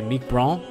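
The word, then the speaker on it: Mike Brant: is Mike BR uh I guess you would say Meek Bron uh but it's spelled Mike Brandt uh in English like Mike and then b r a n t uh he's one of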